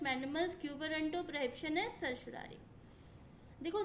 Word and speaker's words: certiorari: prohibition and ससुरारी देखो ससुरारी का हर किसी का अपना खुद का प्रोनंसिएशन है कोई इसको कुछ प्रोनंसिएशन करता है कोई कुछ करता है तो आप अपने हिसाब से इसको प्रोनाउंस कर सकते हैं मेरे हिसाब से सर सुरारी है हेबिस कॉर्पस सबसे पहले